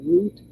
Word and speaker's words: route: because sometimes I say root sometimes I say route r o u t s okay in the British um pronunciation they say root or roots in the American pronunciation we say route or we could say